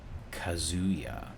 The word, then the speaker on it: Kazuya: We're getting Kazuya, I believe is how it's pronounced.